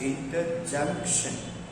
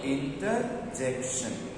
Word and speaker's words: interjection: Some people pronounce it as interjunction, but it is not junction, but it is called a jection. So it is called interjection.